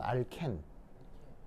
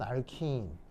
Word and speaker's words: alkene: 근데 친일 발음으로는 알켄, 친미 발음으로는 알킨. 알겠죠? 건우는 어떤 거 선택? 건우는 이제 친일. 그래서 알켄. 좋습니다. 학교에서는 뭐라고 하던가요? 미국식 발음. 그래서 친미는 알킨, 친일은 알켄.